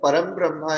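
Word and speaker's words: परम् ब्रह्म: No, Param Brahma is the right way. Whatever is in the bracket. Param Brahma. Okay. Makara is there. That's what I have emphasized on this Okay. one. Okay. How the Anuswara is to be pronounced. So the Okay. Bindu, what you see as Anuswara here is to be pronounced as a Makara.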